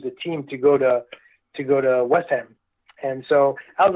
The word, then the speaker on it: West Ham: Everyone in London speaks a bit we don't even pronounce the H because it's too long. We just call it West Ham, and that's what we call them. West Ham.